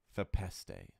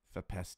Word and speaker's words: Fepeste: The correct way to pronounce their name is Fepeste. Fepeste. It kind of sounds like a pasta, sort of. Fepeste. Fepeste.